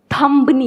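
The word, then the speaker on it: thumb: होता है ऐसे कई सारे वर्ड हैं जैसे थुंबनी होता है थंब होता है थंब या 20 साइलेंट तो हम वो बोलता है हमारे देश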